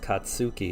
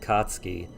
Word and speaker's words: Katsuki: Of course, the Katsky it's not pronounced Katsuki, it's pronounced Katsky, but Gakugo Bakugo is pronounced Bakugo.